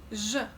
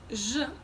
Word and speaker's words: Ж: What I'm feeling is that when I'm moving from z to zh, my tongue slightly moves back, just a couple of millimeters. Z, zh, z, zh. And I feel, again, when pronouncing zh, I feel that my tongue is getting closer to the palate, as if it's lifted a little.